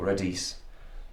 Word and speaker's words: radis: C'est un radis. Oh, radis radis. Radis. R. On prononce pas le S.